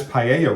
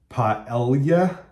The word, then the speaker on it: paella: Spanish paella recipe, only they tell you to pronounce it paella. Paella. Nope. Paella.